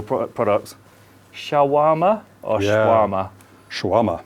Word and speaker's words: shawarma: Shawarma. Shawarma. There we go. So, perfect pronunciation.